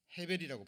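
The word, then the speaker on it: הבל: 하루살이로 표현했는데 이 원래 허사라는 허사로 번역된 단어의 원어는 헤벨이라고 발음이 되는데요.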